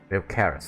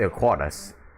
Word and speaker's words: Ilkaris: Ilkaris, that's how it's pronounced, okay. I believed he was on Dana. I thought it's Ilquaris. It's like Spanish or something.